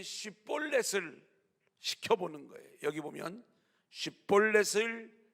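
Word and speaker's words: שיבולת: 에브라임 사람들은 쉿볼렛을 발음하지 못하고 십볼렛 이랬어요.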